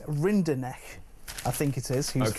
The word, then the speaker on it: Rinderknecht: He's going up against Arthur, if I can get this one right, Rinderknecht, I think it is, who's French. I've been practicing that pronunciation.